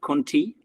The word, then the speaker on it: Contea: didn't know but now I know we actually pronounce it how Conti so I did say Conti I actually think